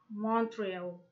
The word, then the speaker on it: Montreal: university weak and earthwhile some place names which have main stress on the last syllable such as berlin column montreal team numbers 13 19 and